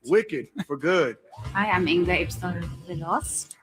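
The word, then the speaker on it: Inga Ibsdóttir Lilleaas: Hi, I'm Inga Ibsdottir Lilas. Inga Ibsdottir Lilas, Sentimental Value.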